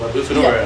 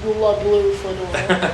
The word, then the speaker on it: La Bufadora: You just said it, La Bufadora. Yeah. I said like La Blue Fedora.